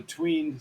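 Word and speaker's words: Tweyn: when I speak of the tween C or the train C depends on how you want to pronounce it t-w-e-y-n the twain C is the area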